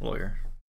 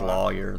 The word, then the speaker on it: lawyer: say yeah yeah uh options are rhymes with boy and rhymes with flaw I lawyer Loy boy yeah I'd say boy yeah lawyer some people do say like lawyer though but that's weird